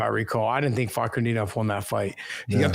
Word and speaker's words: Fakhretdinov: He's also got the win against Renat Fernandinov. I can't think how to say his name. Fakhretdinov.